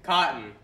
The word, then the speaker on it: Cautin: Cautin. Hank all right. Cautin, yeah. Spell it.